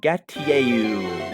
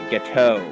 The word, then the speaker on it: Gateau: And we got an old Gatieyu. No, it is old Gateau.